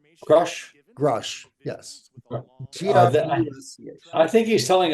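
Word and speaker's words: Grusch: believe that David I don't know how to pronounce his last name k k grush grush grush yes I think he's telling us the truth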